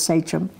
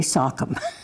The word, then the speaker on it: Sachem: Her title was Sonk Squaw, which is a female Sockum, which we unfortunately have been pronouncing as Sachem. But it's really Sockum.